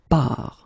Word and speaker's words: pars: So the first form will be je pars, okay? Remember, you put this S, you don't pronounce it.